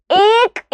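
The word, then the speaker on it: एक: വളരെ ശ്രദ്ധിച്ചിരിക്കണം കേട്ടോ അപ്പൊ എ എന്ന് പറയുന്ന ശബ്ദവും ക എന്ന് പറയുന്ന ശബ്ദവും കൂടി ഒരുമിച്ച് പറഞ്ഞിട്ട് നമ്മൾ എന്താ പറയുന്നത് ഏക്ക് എന്നാണ് പറയുന്നത് അല്ലെ അപ്പൊ ഒന്നിന് വണ്ണിന്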